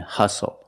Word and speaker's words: hustle: We also see the silent T when you have the spelling pattern S-T-L-E. Like these words, whistle castle and hustle.